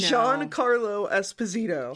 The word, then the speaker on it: Giancarlo Esposito: Also, the missing thing from that episode, Giancarlo Esposito. Dennis keeps on telling me, when are you going to mention it on the podcast? And I said, it's on the missing episode now. I know. Giancarlo Esposito.